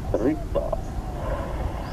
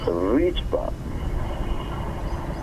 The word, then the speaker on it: Rigpa: In Tibetan Buddhist texts, this gap is referred to as Rigpa, or pronounced Rigpa.